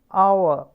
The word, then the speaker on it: hour: The examples for the sound is hair, behave, hour, honest. You might be wondering why the words h in hour and h in honest is in blue color. It is because we never pronounce actually this particular sound.